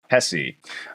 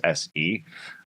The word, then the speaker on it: Hesse: Today we are covering Siddhartha by Hermann Hesse.